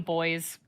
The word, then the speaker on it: buoys: We call them boys. Ah, same spelling. It's just pronounced different. So, the the buoys are back in town.